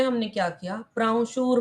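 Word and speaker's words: प्रांशुः: हां उपेंद्रो उपेंद्रो वामन प्राशुर उपेंद्रो वामन प्राणशूर प्राशुर यहां पे ऊपर जो व बन जाता है वो अनुस्वार प्राशूर उपेंद्रो वामन प्राशुर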